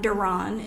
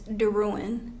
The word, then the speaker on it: Derouen: My last name is not Deroun, it's Derouen.